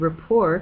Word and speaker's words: rapport: that's true but it makes more sense if you know that the word rapport comes to English from French and that the French commonly use a silent T at the end of words did you know that